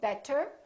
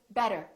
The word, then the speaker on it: better: t and another vowel this t changes and it becomes this fast d sound so we don't say better we say better better so it's not a really strong d it's not better it's a real quick better better look again we